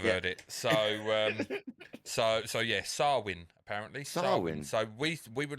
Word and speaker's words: Samhain: How do you go about pronouncing it? Samhain.